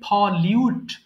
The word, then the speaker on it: pollute: আচ্ছা, পলিউট উচ্চারণ করবো আমরা, পলুট বলি, পলিউটা এটা উচ্চারণ করবেন ফলিউট, ফলিউট।